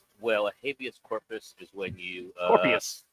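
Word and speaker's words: habeas corpus: that a Mexican food or something what is habus scorpus well a habus corpus is when you uh Corpus are say it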